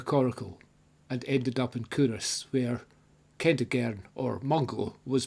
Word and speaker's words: Culross: For those of you not from the area, the pronunciation is Culross. Not Culross, Culross.